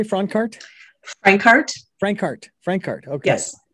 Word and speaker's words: Francart: Francart. Okay. Yes. Not the yes. Franck, but Frank. Francart.